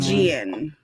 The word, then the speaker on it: Stygian: Stygian. Stygian. I thought they were It's a just like J. Soft G.